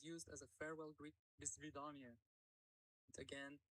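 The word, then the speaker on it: до свидания: pronunciation guide where in Russian it is used as a farewell greet. "Do svidaniya". Again, "Do svidaniya".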